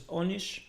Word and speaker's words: Anish: the international tournaments yeah anyone who has Bengali influence will pronounce Anish as Onish in Bengali a sounds like o many times and now it is even written as o yeah that's what I